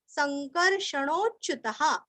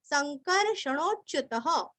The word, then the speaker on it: संकर्षणोच्युतः: सा खींच के च्युत, च आधा युत, च्युत और विसर्ग का ह अथवा हा, संकर्षणोच्युतः, संकर्षणोच्युतः, वरुणो, वरुण का ऋणु